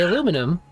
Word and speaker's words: aluminum: them you get that aluminium i still say aluminum yep most of the time but well they actually spell it differently yeah but i mean even if